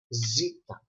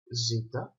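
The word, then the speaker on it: ζήτα: You will have in your mind that the letter zeta is pronounced z, like zoo.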